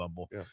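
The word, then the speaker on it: Humble: it's kind of like Umble the H is silent right city of Umble the murder capital of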